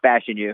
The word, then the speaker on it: Fashanu: I mean, I've been saying it wrong and finally figured out how to say it. So I'm going Olu Fashanu because. Where did you get Fashanu? Because I'm just going off Moscona saying Fashanu. It's Fashanu. It's Olu Fashanu.